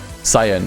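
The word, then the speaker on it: Scion: Skiing, Pronounce Cyan. Okay, Cyan.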